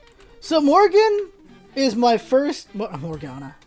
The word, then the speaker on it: Morgana: Morgan. So Morgan is my first... Morgana. I did her name wrong.